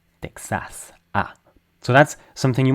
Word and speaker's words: Texas: So you say Texas because it ta. So the emphasized vowel is the first one. In French that doesn't matter. There's almost no word stress. Um, for all intents and purposes in French, there's no word stress. So, we say it in a way that's kind of flat. Tas. Uh, but we say the vowels fully.